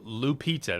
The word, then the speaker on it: Lupita: So Lupita, that's how you say her name?